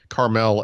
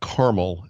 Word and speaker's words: Carmel: Carmel, as in Carmel, California. Yep. Not caramel, as in the food item of the sugar, which is actually caramel.